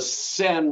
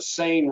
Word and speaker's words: Seine: on it's called the Seine River. For many years, I called it the Seine River.